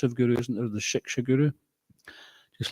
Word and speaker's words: Shiksha: Sometimes I think in Bengali they don't pronounce the S so much, is it? Shika. Same thing. Like Kshatriya or Katriya. Prabhupada pronounced it Katriya, right? The S was silent. So here it's silent, they just haven't included it.